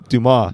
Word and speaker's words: Dumas: It's John Lee Dumas? Dumas. Or Dumas. Dumas. The S is silent.